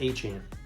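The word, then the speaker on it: Achane: aan aan it's aan it's pronounced aan God dang Devon aan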